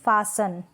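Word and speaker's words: fasten: पढेंगे Christmas Christmas नहीं पढेंगे Christmas फास्टर नहीं फांसन क्या करेंगे इस फैशन जैसे कि लहसुन वैसे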